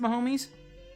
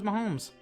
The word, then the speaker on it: Mahomes: are waking up oh so it is pronounced my homies i thought it was mahomes i don't know anything